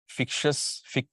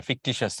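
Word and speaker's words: fictitious: তারপর এখানে frustration, feminine gender, masculine, feminine gender, যেটা আমরা ফিকশাস, ফিকশাস না, এটা ফিকটিশাস এটা।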